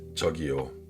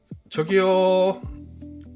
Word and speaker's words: 저기요: Mais c'est un peu comme l'italien ciao, le TCH.